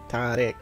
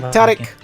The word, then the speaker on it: Tariq: Tariq. See, I'm Like thought and Oh. then ick. Tariq. sorry about that, everybody. Sounds so. What was it? Not All right, Tariq.